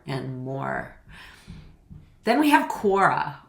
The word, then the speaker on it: Quora: more then we have quora or Kora I think it's quora I've heard people pronounce it differently but it's a very